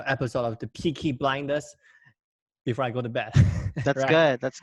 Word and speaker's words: Peaky Blinders: yeah that's how you say it pikas got peaky blinders yes order by the peaky blindness like you